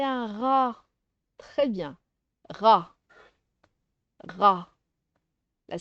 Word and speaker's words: rat: Tu as remarqué le T ici à la fin? Je vais faire les syllabes. Regarde, rat, mais le T ne se prononce pas.